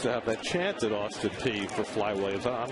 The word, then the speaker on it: Austin Peay: I never knew how it was pronounced that way, but it's Austin Peay in Kentucky. It's this P-E-A-Y.